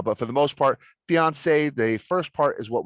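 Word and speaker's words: fiancée: got engaged divorced fiance fiance now these two words they're pronounced the exact same way but they've got one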